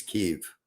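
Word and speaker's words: Kyiv: and uh kiev and kiev kiev was the russian um pronunciation and the preferred russian pronunciation as kiev and the preferred ukrainian pronunciation is keef bombs i i i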